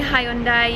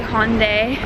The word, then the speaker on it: Hyundai: And we say Hyundai, you guys say Hyundai.